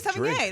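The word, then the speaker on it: Sevigny: Is it Savigny? Chloe Savigny? I don't know how to say her last name. Chloe Savigny. Sauvigny. Sauvigny. Sauvigny? Oh, come on, that's not Sauvigny. Chloe S. Yeah, no, it's Chloe Sauvigny.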